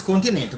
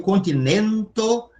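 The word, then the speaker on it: kontinento: Vocês já viram que esse som K de querida casa é sempre com K, não é nem com C, que é o som de ts de pizza, nem com o cpéu, que é o som de t de atin, tá? Eu também falei o continento bem aberto, ó. Continento. Tá vendo que eu realizo o N de nair?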